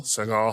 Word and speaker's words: Segel: They've you know, the first couple seasons the the show focused mostly on Jason Segel Siegel Segel, how do you say his last name? Segel. Segel.